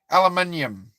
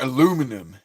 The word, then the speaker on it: aluminium: Just say aluminium. Americans go aluminum. That's what Americans say. They're like, hey man, is that made out of, hey bro, is that made out of aluminum? No, aluminium. Well, that's stainless, but you know what I mean. Aluminium. Aluminium. That's how you say it. You don't say aluminum.